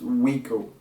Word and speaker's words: WYKO: phone company it's like WI ko it's pronounced Rico here in Portugal and that's how people call me here so yeah it's from